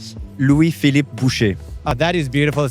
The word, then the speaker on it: Louis Philippe Boucher: Can you actually pronounce your full name? Louis Philippe Boucher.